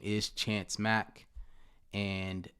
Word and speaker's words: Mack: all social media platforms my name is chance mack and it's spelled how it sounds chance mac m-a-c-k uh